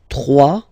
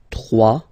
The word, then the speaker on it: trois: Trois. Final s not pronounced. Trois.